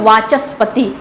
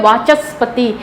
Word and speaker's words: वाचस्पति: एक ले लेते हैं वाचस्पति, इसका जब प्रोनाउंसिएशन करते हैं वाचस्पति, इसके शब्द को क्लियर होने में हम च और स के बीच में एक विशेष अपना स्वर निकालते हैं जिससे कि ये शब्द क्लियर हो सके।